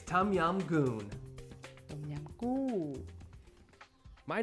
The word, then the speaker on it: Tom Yum Goong: popular Thai soup that's difficult to pronounce but very easy to cook and it's healthy for you it's tum yam goon tum yam my name